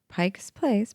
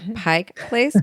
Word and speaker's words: Pike Place: Next time you visit Pike Place Market in Seattle, not Pike's Place, but Pike Place Market in Seattle, why not swing by Kells for a pint?